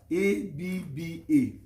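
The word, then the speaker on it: אבא: If you check very well, the Hebrew word for father is written as AB, but pronounced as ABBA, Abba.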